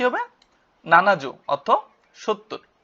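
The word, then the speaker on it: 七十: ইয়ন এভাবে বাড়বে তারপর 70 70 কি হবে নানাজু অর্থ 70 বা সীতিযু বলতে পারি আমরা ঠিক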